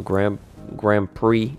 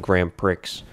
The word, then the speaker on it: Grand Prix: Apparently, y'all are laughing at me for saying Grand Prix. Listen, it's the English language, okay? It doesn't make any sense. Why do you put an X if you don't want me to pronounce the X?